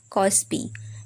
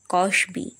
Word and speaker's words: কসবি: ফার্সি ভাষাতেও বিশেষ পন্ডিত সংলাপে একটা শব্দ আছে কসপি সেটা আসলে কসবি নয় কসবি আলী সাহেব বললেন শব্দটা এসেছে আরবি কসব থেকে সুতরাং কসবি হওয়ারই স্বাভাবিক তবে বাংলায় কসবি উচ্চারণ করলেও দোষ নেই তেমনি নাটকে আছে রিয়াত